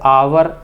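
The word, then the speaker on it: hour: यहीं पे H silent है तो इसका आवर आपने सुना होगा, यानी कि आ, तो आंसर क्या होगा?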